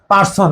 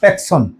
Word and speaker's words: personne: no Riya Natu no প্যাকশন নো প্যাকন অনেকে পারসন আছে পারসন না প্যাকন এই আর দিয়ে এ উচ্চারণ হয় প্যাকন ন প্যাকন এখন উচ্চারণ ন